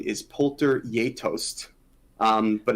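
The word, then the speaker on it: geitost: um it's it's i believe it's the proper pronunciation is poulter yatost um but it's spelt like gaitos and i think it can be pronounced guy toast it's a norwegian she is apparently very popular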